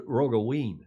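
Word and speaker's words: Roggeveen: ioc and this is rogavin I guess who encounters a rogue ween there's a v pronounced like a w in Dutch like it is in German who encountered it on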